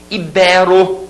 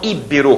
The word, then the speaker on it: íbero: eu gostaria que vocês memorizem ibero e não íbero como a gente escuta por aí tá bom ibero a